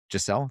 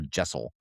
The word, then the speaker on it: Giselle: Giselle. That is so pretty because in my head, I kept calling her Jessel, which is not pretty at all. Giselle.